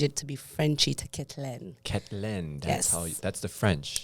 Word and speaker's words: Kettelene: to be Frenchie to kitlin klin oh that's the French yes that's the French version of it apparently very cool and now